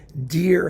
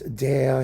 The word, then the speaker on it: der: I mean, dear Herr, dear Ernte. It's der Herr, der Ernte. It's all the same vowel, people.